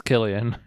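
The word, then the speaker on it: Cillian: K been K man every time I say his name it doesn't matter which version I say somebody tells me it's the other way it's Killian great next time I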